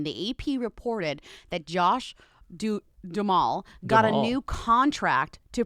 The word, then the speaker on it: Duhamel: Duhamel. What did I say? Lindsay, I will accept you mispronouncing any other word, but Duhamel, you gotta get right.